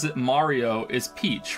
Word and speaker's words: Mario: But it's not Murio? I'm not even American? Who says Murio? No, who the fuck pronounces his name Murio? I think the only one in the games that says it Mario is Peach, right?